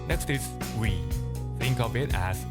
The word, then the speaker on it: ㅟ: Next is "ㅟ". Think of it as ㅜ plus ㅣ. So pronounce it as one syllable.